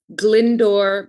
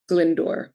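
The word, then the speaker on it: Glyndwr: And then we have the body Glindor Michael. And Glindor is spelled, it's obviously a Welsh name, uh, G L Y N D Wr, Glindor Michael.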